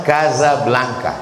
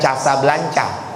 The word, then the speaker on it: Casablanca: Sama juga dengan ibu kota Maroko, cara bacanya Casablanca. Jadi bukan Casablanca.